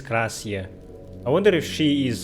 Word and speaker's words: Klaasje: I think loading tips actually say how to say her name. Not Klaasje. Klaasje. Okay, her name is Klaasje.